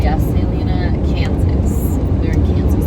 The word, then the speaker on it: Salina: Salina, I don't know how it's pronounced. Yes, Salina, Kansas.